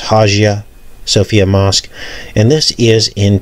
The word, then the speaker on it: Hagia Sophia: the Hagia Sophia Moss it could be pronounced hajia Sophia mosque and this is